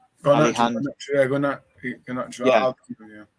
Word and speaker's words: Garnacho: And then Garrincha, is that how you say it? Garnacho.